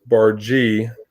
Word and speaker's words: Barga: Yeah, well, the Bargee name is French, and it was originally an E, and then changed it over to an A, but it's pronounced Bargee, B-A-R, and then G-E.